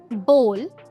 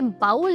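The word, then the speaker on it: bowl: कटोरी बोल। दोस्तों, इसे बाउल नहीं बॉल प्रोनाउंस करते हैं।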